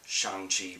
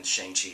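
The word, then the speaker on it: Shang-Chi: do want to see shang chi uh sorry i know it's pronounced shang chi but i've always ever since i read the comics way way way long ago it's always been shanky and it's going to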